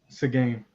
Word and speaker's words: Seguin: How do you pronounce Tyler Seguin's name again? Seguin.